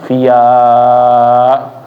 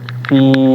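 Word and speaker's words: في: Nah, kalau seperti ini jangan sampai bendera ini dibaca menjadi tadi seperti yang Anda bilang via. Nggak ada ya. Huruf mat itu nggak boleh dibaca seperti itu. Bendera memanjangkan huruf sebelumnya, bukan huruf tersebut yang menjadi panjang. Kayak misalnya ya di sini jadi, oh ini kayaknya sama-sama di atas bentuknya mirip fathah lagi, jadinya via, keliru seperti itu. Begitu dipanjangin lagi. Nah, fi begitu ya bacaannya.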